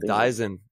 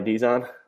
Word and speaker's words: Dyson: one other he said dyson everybody's been saying his last name wrong this whole time ronnie dies on yeah we call him